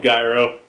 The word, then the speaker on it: gyro: how do you say how does everybody else pronounce I say eurooo gyro who could say you could say hero I say hero anyway so I get